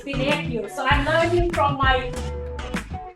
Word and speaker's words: Pinocchio: It's Pinocchio. So I'm learning from my co-host, madam, how to pronounce Pinocchio. I thought it's Pinocchio.